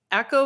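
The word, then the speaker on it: Eko: in this episode his his name is spelled e-k-o yeah echo i was thinking echo like echo oh yeah yeah echo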